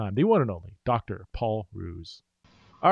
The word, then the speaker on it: Hruz: here with dr paul ruse um that is how you pronounce your name is that correct you told me uh yeah the h is silent silence so um paul